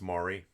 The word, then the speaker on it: Mari: I'm pronouncing your name wrong. It's Mari, not Mary.